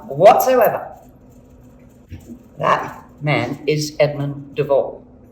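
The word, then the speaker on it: de Waal: That man is Edmund de Vol. It's spelled D-E, capital W-A-A-L, de Vol.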